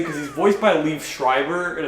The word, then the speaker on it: Schreiber: he's voiced by Liev Schreiber and it's pronounced Schreiber not Schreiber I thought was Schreiber back then and I was